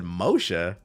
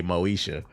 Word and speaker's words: Moesha: And I said, Moshe? I was like, oh, that's AI, because it meant to say Moesha. But the AI didn't know how to pronounce it.